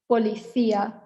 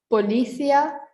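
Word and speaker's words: policía: left hand side is polythea so not policia or policia but polythea so this is a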